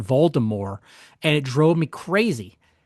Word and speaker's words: Voldemort: And the first book, maybe first two books, he pronounced it the whole thing is Voldemort. No T. Like silent T.